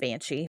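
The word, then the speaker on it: bean sidhe: It shows that it's spelled bean and then S with a specific type of IDHE. But this is actually, I mean, it's the word it's banshee. It's literally banshee. So But it's spelled different. Yeah, it's just spelled different.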